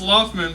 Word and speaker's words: Laughman: And your real last name is Laughman. Yeah. Is that really true? Yeah, it's Loftman, but yeah, it's spelled. But it's spelled like Laughman.